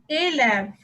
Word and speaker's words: élève: For example, élève. In this word, first E has an accent aigu over it, which is pronounced as A.